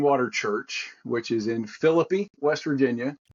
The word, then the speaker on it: Philippi: Church which is in Philippi West Virginia spelled the same as Philippi in the Bible but we pronounce it as philippy in West Virginia I was I was